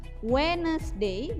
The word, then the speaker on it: Wednesday: Wednesday, jadi D-nya nggak usah dibaca ya.